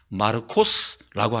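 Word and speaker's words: Μάρκος: 여러분, 마가의 원래 발음은 마르코스라고 합니다.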